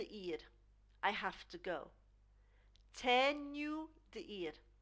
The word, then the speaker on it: tenho: Tenho de ir. Tenho de ir. I have to go. Tenho de ir. Now this H actually sounds like a Y. Tenho. So we split that up.